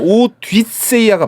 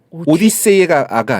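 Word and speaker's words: Ὀδύσσεια: 그리스어 발음으로는 오뒷세이아가 맞아요. 오디세이아가 아니라 뉘?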